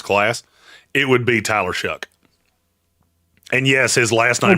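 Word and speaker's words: Shough: it would be Tyler Shuck. And yes, his last nine rhymes with duck, not shelf. The next person I hear calling Tyler Sha. I'm going to lose my mind. Shuff.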